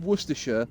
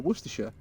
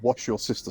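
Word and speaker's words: Worcestershire: And it's like, "Yeah, but most people that aren't in Worersha can't pronounce Worersha." Worchester. Yeah. Wor worester shshire sauce. So I think the best one I've seen was somebody in America who called it wash your sister sauce.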